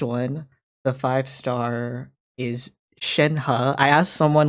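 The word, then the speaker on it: Shenhe: the five star is shenha i asked someone like how do you pronounce her name because i i thought it was shen he but someone said shen ha with the you know ha sound so i was like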